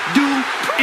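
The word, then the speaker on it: Maxxine Dupri: Michael, it's pronounced Dupree.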